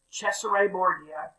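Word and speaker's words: Cesare Borgia: never mind but that is i would say caesar morgeau on the left but if you ever uh hear the way they pronounce it in italian it's actually pretty cool it's cesare bordeaux and who knows what he really looked like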